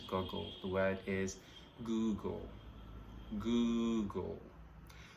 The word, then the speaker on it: Google: to look up finns this word is mostly mispronounced as goggle but it's not google the word is google google right so when you have something to